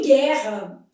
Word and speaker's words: guerra: Em guerra, esse U não é pronunciado. Então isso aqui forma um dígrafo. E aqui os dois Rs tem um som só.